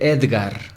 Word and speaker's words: Édgar: ejemplo vamos a decir el nombre édgar édgar es un nombre muy común se separa en dos sílabas sencillamente édgar cuál es la sílaba tónica ser agar edgard édgar